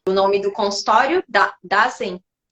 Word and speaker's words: Dasein: Dazen? É, é uma palavra em alemão, então a gente pronuncia Dasein.